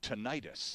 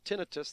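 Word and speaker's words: tinnitus: and got it right called it tonius ah well tomato tomato so is that like a European Canadian pronunciation versus an American pronunciation really some people call it ttis I think itis sounds like an infection it does rather doesn't it to be technical itis is i i s whereas tinitus the last four letters are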